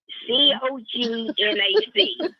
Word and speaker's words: cognac: A bottle of, I call it cognac. C-O-G-N-A-C. What's it called? Am I pronouncing it right? What's it called? Cognac. Oh, that's interesting. Okay. C-O-G-N-A-C. Is that correct? Oh, sounds good.